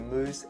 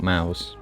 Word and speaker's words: Mous: very popular case the moose limitless 3.0 in our mid fiber i think we're landing on moose by the way how he pronounced him not mouse i'm gonna stick with moose i don't know i'm